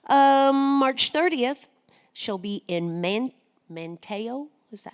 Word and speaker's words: Manteo: March 30th, she'll be in Manteo. Is that how you say it? Manteo? Manteo.